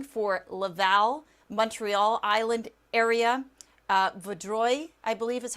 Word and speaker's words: Vaudreuil: There's the latest tornado warning for Laval, Montreal Island area, Vaudreuil, I believe is how you say that.